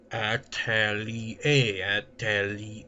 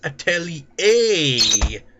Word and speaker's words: atelier: It doesn't even freaking sound any way to the way it's spelt. That's what I hate about words. So few words tend to be freaking spelt the way they're pronounced. The Atelier is I mean, Atelier. It makes it sound like it's got an A at the end. But it's only got an A at the beginning of the word.